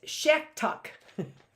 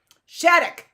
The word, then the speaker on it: Shattuck: By Roger Shacktuck. What's that name? Shacktuck. Spelled like it sounds. Shacktuck. Shattuck. Why am I saying it like I'm just phonetically saying the name?